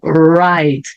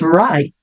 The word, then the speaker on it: right: palavra também então então right Yes that's right Yes that's right e veja que o t aqui eu nem pronuncio Yes that's right como